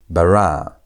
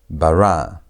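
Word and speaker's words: בָּרָא: Again, emphasis is on the tonation is on the last syllable, the last part of the word. Barra bar.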